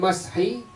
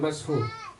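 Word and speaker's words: مسح: Al-ula, masalah yang pertama, la yusannu isti'abul mashi, ay mashi, benerin tuh, bukan mashu.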